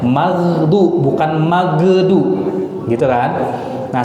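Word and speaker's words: المغضوب: Ghairil magdu itu harusnya magdu, bukan magedu.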